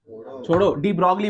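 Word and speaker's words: de Broglie: डी ब्रॉगली बोलना इसको आप, या फिर डी ब्रॉय बोलना। क्या बोलना? एल साइलेंट, एल कुछ बोलो, मुझे कोई फर्क नहीं है।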